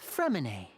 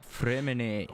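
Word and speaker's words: Freminet: Freminate. Where did everyone else go? I have some new friends that I would like to introduce. That's how you say it. I had a feeling the T was silent.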